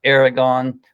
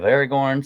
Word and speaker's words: Aragorn: the coule couple thousand years grandfather of of Aragon or of Aragorn so or Aragon I don't know why I'm saying it wrong